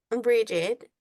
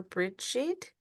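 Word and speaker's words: Brigid: So it just says Bridget, pronounced bridge in Irish or Bridget in English.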